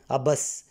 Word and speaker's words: عبس: سے ادا ہو سکے۔ عبس، عین پر زبر، بے پر زبر، سے پر جزم، عبس۔ جلوس، جیم پر پیش،